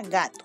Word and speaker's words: gato: Vamos a ubicar primero la sílaba tónica. O sea, la sílaba más fuerte. Gato. ¿Cuál crees tú que es la sílaba tónica? Muy bien, es ga. Allí está. Entonces, a esta le vamos a colocar su nombre. Sílaba tónica, porque es la más fuerte.